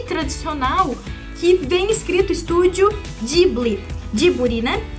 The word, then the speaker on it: Ghibli: do estúdio em japonês, deles adotarem o Ji e não Gi, foi devido à influência americana, já que os falantes de língua inglesa têm dificuldade de falar a sílaba Gi, então eles acabam puxando pro Ji.